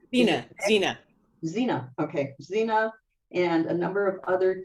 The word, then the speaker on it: Xena: How do you pronounce it? Gina? Sheena? Is it Xena. Xena? Okay, Xena, and a number of other TV series.